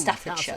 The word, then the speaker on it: Staffordshire: sense because the main It's Staffordshire, castle was not just a block away.